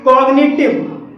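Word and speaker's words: cognitive: चौथा हमारा अपवाद है कॉग्निटिव कॉग्निटिव में जी के बाद एन आया है और यहां पर भी जी साइलेंट नहीं है कुछ ऐसे शब्द होते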